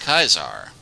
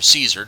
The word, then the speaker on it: Caesar: on turning the cons against kaiser or caesar depending upon which voice actor is pronouncing his name at the time we'll see you then